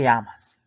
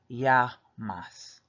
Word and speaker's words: llamas: The first part again of the word is ya. We get the Y sound because there's two L's there. The second half of the word is going to be pronounced mas. Mas, M-A-S, so you're going to say that part as you see it.